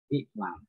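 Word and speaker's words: اِعْلَمْ: Ingat, yang ini dibaca tidak dibaca doma, tidak dibaca doma, berarti pilihannya cuma kasroh. I menjadi iklam.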